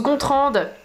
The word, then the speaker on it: Gontran: ça Patrick def bonjour je m'appelle Gontran mais ça se prononce gontrande ouais cool je suis